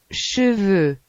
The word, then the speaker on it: cheveux: Las letras E, U se pronuncian como el sonido francés. E, Por ejemplo, cheveux, que significa pelo.